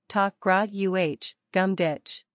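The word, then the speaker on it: tá grá agam duit: get I love you Todd greogam did is pronounced roughly talk uh gum ditch though this phrase literally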